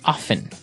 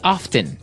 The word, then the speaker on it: often: people like to pronounce often right they kind of leave out the strong T sound while other people say often that's right both forms